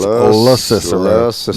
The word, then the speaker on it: LaCicero: Most of these places are saying it wrong. His last name is LaCicero, not however they're saying it.